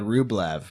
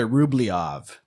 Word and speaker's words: Rublev: andre tarkovsky andre and until recently i would have said rublev but i'm gonna i'm gonna upgrade my pronunciation here and say andre rubliav because that's how the russians seem to pronounce it even though it's spelled rublev in our feeble english transliteration so this is reputed as